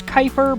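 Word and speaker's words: Kuiper: great with pronunciation so I'm pretty sure it's Kyper but I don't know the the K UI p e r but yeah before being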